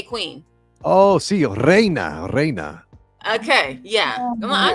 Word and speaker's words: Reina: Reana. No, I was trying to say Queen. Oh, sí, Reina.